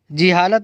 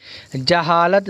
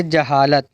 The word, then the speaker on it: جہالت: بناوٹ، جہالت، حرارت، سجاوٹ۔ جہالت نہیں پڑھیں گے، جہالت غلط تلفظ کی ادائیگی ہے۔ جہالت زبر کے ساتھ میں پڑھیں گے، جیم پر زبر کا استعمال کریں گے، جہالت۔ جسارت، حجامت نہیں کہیں